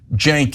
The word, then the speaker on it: Cenk: easier than mine because mine starts with a C and is pronounced J. So Cenk is not pronounceable if you don't know it, let alone Uygur, right?